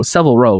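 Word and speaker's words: Savile Row: famous uh several row several row right that's how you say it i'm going to say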